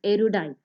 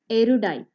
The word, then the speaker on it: erudite: words in vocabulary section of competitive examinations is erudite i repeat erudite e r u d i t e i hope you got the pronunciation right it